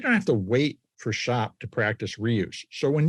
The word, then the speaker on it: SHÄP: He's the founder of Shop. Shop is spelled ha with an umlout p.